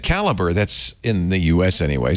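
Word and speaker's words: Calibre: you two things one the reason I say sometimes calibra is because if you said caliber that's in the US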